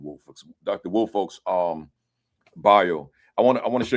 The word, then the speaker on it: Woolfolk: Woolfolk. That's so it's a long O on folk, right?